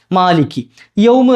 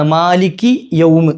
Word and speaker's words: مَالِكِ يَوْمِ: പറഞ്ഞു തരട്ടെ ഒരു കാര്യം അതായത് മാലിക് എന്നതിന്റെ അവസാനത്തെ കാഫും യൗമ് എന്നതിന്റെ തുടക്കത്തിലെ യാവും തമ്മിൽ ചേർത്ത് ചില ആളുകൾ ഓതാറുണ്ട് ക്യാ എന്നുള്ള വാക്ക് ക്യാ